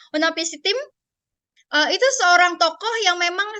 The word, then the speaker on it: Utnapishtim: Di dalam epos Gilgamesh ini, gitu ya, ada cerita tentang Nuh atau Utnapishtim, bacanya Utnapishtim.